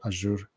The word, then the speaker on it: Azure: But if you follow Reza Rahman, who's a principal program manager at Java on Azure for Microsoft, I'm not sure how do you pronounce it, Azure or Azure? Azure.